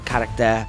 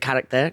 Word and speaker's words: Caractère: What I loved is, and what was so unique is, I'm going to butcher the pronunciation. Is it Caractère? It means Caractère, yeah, Caractère.